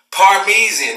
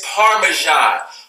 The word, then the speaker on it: Parmesan: everybody's this said parmi zijn parvizi is parmesan Parmesan all right this is what a [